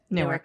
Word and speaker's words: Newark: the airport closest to here what is it newark airport how do you say it newark newark